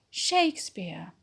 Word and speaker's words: Shakespeare: Shakespeare's tragedies make great drama. Shakespeare's tragedies make great drama. So the stress words are Shakespeare. Shakespeare is a noun, so we put the stress on Shakespeare.